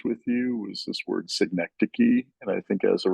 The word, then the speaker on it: synecdoche: I was like synecdoche, or it's like a weird I word.